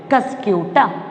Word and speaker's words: Cuscuta: How we can pronounce it? Cuscuta.